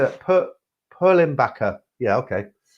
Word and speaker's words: Perlenbacher: You did actually pronounce it correctly from what I've seen. I don't know how do you say it? Perlenbacher.